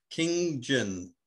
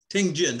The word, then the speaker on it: ting jin: what is king jen king jin uh ting jin ah yes ting jin that's um t-i-n-g so it means listening